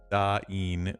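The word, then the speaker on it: Dáin: say his name, but the name Dane Iron Foot is typically pronounced with two syllables. Daen with the A sound like the A in father. Da and I. Two vowels. That's not There's not two dots. There's only one dot over there, which would be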